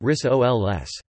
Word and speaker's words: risoles: Rissole is a snack food in Indonesia, where they are called rissoles, pronounced rissoles.